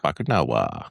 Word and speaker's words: Bakunawa: So, I'm going to have you pronounce this first. Bakunawa. Bakunawa.